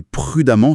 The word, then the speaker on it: prudemment: Dans les deux cas, on prononce amant. Ah oui, c'est vrai. Constamment et prudemment se prononce pareil à la fin.